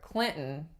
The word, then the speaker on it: Clinton: So if you have mountain, mountain, or Clinton, Clinton, or button, button, those are all glottal stops followed by an N sound.